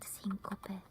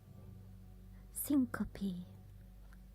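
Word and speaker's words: syncope: In English, it's called it syncop. It's the same. But how do you pronounce it? Syncopy. Okay. Syncopy.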